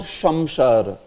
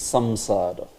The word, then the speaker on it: Samsara: Like it is not Shamshara. Although Bangla devotees may pronounce it as Shamshara. It's not Shamshara. It is what? It is Samsara.